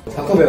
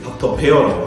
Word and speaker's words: 닥터 베어: 그래서 혹시나 닥터 배라고 발음 안 하시게 닥터 베어라고 확실하게 이렇게 닥터 베어 이제 본격적으로 질문을 한번 받아보도록 합시다.